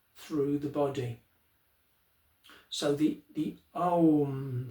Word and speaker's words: Om: So it's pronounced Om. And usually the last syllable, the sound, is drawn out.